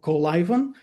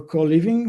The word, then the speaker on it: Coliven: You can actually pronounce it in two ways, either co and then liven. So Coliven or co-living.